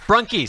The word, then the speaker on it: Brunke: Brunke, so it's the E, pronounce the E.